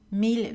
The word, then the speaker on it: mille: Mille villes tranquilles et à leur dérivée prononcée avec la consonne L.